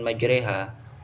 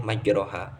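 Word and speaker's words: مجراها: Nah, jadi caranya harus dimiringkan fathah pada bacaan majreha. Itu tidak boleh majroha, harus majreha karena bacaan imalah, yaitu bacaan miring.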